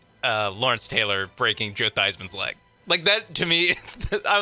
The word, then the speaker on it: Theismann: Joe Theismann changed the pronunciation of his last name to rhyme with Heisman, and he was a good quarterback in the NFL.